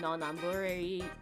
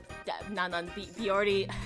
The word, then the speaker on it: Non Non Biyori: You know, anime like Nichijou, Non Non Biyori Non Non Biyori Sorry, I mispronounced it.